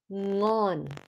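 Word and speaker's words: ngon: you're trying to make you know the the word Wing in English yes so the end of the word Wing is that sound Wing right wing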